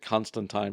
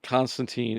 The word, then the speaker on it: Constantine: If you read the books, you're going to look for John Constantine who actually I think they pronounce it Constantine because everything's very British in this world.